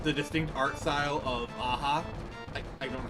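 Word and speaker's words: Aja: run, and like the distinct art style of Aha. I don't know how to pronounce his name. If I'm mispronouncing, I apologize. Like No, it is Aha.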